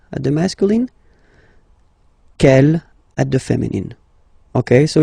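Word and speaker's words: quel: way to pronounce them Kel masculine form here will be pronounced exactly as the feminine form here G so only one sound okay and then the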